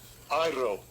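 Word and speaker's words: αἴρω: Iro. Iro. So iro, air. Look at the word. Iro. But look how it's spelled. So iro is spelled A-I-R, air. And then O.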